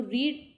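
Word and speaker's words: read: होती है रिटर्न में लेकिन एक का प्रोनाउंस एशन जो होता है मिडिल वाली फॉर्म का उसे हम रेड बोलते हैं तो इसका क्या हो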